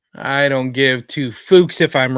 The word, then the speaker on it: Fuchs: How do you say his last name? Jason Fuchs? Let's go with that. I think it is pronounced Fuchs. I don't give two Fuchs if I'm wrong.